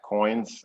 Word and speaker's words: Qoins: Yeah, so you can contact me at Nate at Coins, and I should explain how Coins is spelled. It's QOINS.